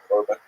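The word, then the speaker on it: חורבן: They tend to use the Hebrew term for God, usually pronounced the Ashkenazi Yiddish pronunciation Korban, which ties the Holocaust to the great destructions of the temples in Jerusalem in ancient times.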